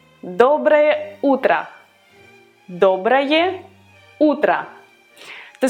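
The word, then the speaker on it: доброе утро: good evening these words are much easier to pronounce and they are also very used so to say good morning you would say dobre otra dobre otra dobra ultra to say good afternoon you would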